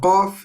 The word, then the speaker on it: Qaf: Okay, so Qaf is similar to K, but the difference is we use the further part, the furthest part in our mouth to say this letter.